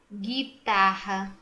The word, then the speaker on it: guitarra: para cá vamos lá o açougue açougue não pronuncia guitarra não pronuncia sangue não pronuncia mangue não pronuncia